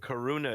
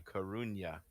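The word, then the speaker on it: Coruña: the horse yeah yeah karuna is actually karunya yes yeah i when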